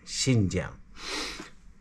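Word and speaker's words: Xinjiang: लेकिन जो है ना एक्स आई एन जो है ना वो उसको हम प्रोनाउंस करते हैं शी शिन शिन जम तो जनाब आज हमारा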